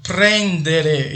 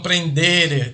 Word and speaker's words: prendere: E lembrando, pessoal, é prendere e não prendere, tá?